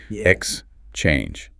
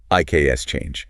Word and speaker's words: exchange: For this word, the stress lands heavily on the second syllable. Exchange. Short pause. Exchange. Exactly. You do not want to say I K S change. It is exchange.